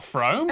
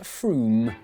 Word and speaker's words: Frome: Wrong, it's not Frome. Frome, it should be blitheringly obvious, is pronounced Froome. But if you did say Frome, don't worry, you're in good company.